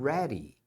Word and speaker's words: ready: está pronto Are you ready Are You Ready aqui também esse D A gente acaba pronunciando como se fosse um R por isso que é Ready Ready Are You Ready